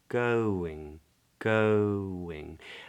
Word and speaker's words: going: true going going yeah I don't pronounce the G at the end how's it going now